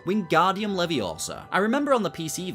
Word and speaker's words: Leviosa: It's pronounced leviosa, not leviosa, for learning the wingardium leviosa spell in charms class.